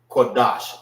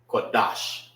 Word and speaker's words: Qadash: Qadash, Salaki. Qadash. So it won't be Da Sha. It's Dash. Dash. Pronounce it together.